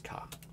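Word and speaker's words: か: It is a consonant followed by a vowel and makes up a single syllable. You pronounce this as ka.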